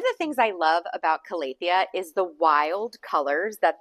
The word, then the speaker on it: Calathea: I hear people say Calathea. I hear people say Calathea. I don't care how you say it. Use the proper plant Latin. I appreciate you doing that, but I call it Calathea.